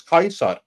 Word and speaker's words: Caesar: the thing uh the the pronunciation of C has changed in Modern English whenever you see the